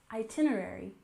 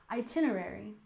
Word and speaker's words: itinerary: we have itinerary with stress on the second syllable itinerary itinerary and this is the